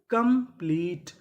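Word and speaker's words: complete: टा, क्योंकि आखिरी में ई है, हमें ई का उच्चारण नहीं करना। तो मीनिंग क्या बनी? कंप्लीट।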